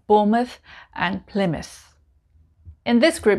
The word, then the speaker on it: Bournemouth: word mouth mouth m-o-u-t-h now you might call it mouth normally we would say mouth but if it's a place name we just say must like number 11 bournemouth bournemouth and number 12